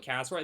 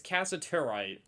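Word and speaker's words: cassiterite: Or it's not casserite. I always call it casserite. It's not what it's called. It's casaturite. I always miss a syllable in it.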